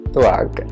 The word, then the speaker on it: Tvakh: So the brand is Tvakh, and I said it right this time, and this is their AHA plus BHA chemical peel.